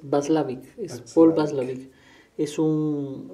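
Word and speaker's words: Watzlawick: solo para precisar eh la pronunciación del del apellido del autor es vaslav es Paul basl es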